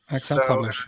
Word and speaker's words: XlPublish: Is that how you pronounce it yourself? XlPublish? Yep. Mr. Moffat? Yes, we do. XlPublish, indeed.